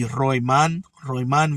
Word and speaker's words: Roiman: See, now this time it's spelled Roiman. So that would be Roman Villa in the main event of a triple hitter that kicks off at 9:30 p.m.